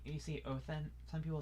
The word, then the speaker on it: Odin: So like you see Othen. Some people say Othen, some people say Odin, but it's like Othen when you say it.